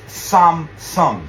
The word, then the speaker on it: Samsung: Okay, let's start off with the word you've all heard before, Samsung. Except in Korean, it's Samsung. There's 2 syllables, Samsung.